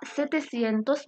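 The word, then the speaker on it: setecientos: 700 هو سيتي سينتوس نورمالمون السبعه في الاسبانيه هي سيتي ولكن كنقولوا 700 هي سيتي سينتوس ماكنطقوش ديك الاي سيتي سينتوس الرقم 800 هو اوتشوسينتوس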